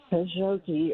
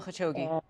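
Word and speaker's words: Khashoggi: They have killed I can't say his name Kajogi or something like that. Jamal Kashogi.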